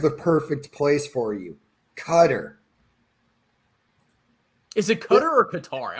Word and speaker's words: Qatar: I think if we were pronouncing that correctly, it would be Qatar. Yeah, it kind of annoys me when people say Cutter. I mean, okay, maybe that's how you pronounce it, but it just seems like that's just not right, But yeah, bro, Eric,